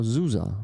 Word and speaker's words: Susa: Then $22.49 from Susa, or Zusa, right? That's how you say it in German.